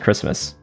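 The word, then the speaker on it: Kiritimati: oh i see basically it's pronounced christmas the ti is like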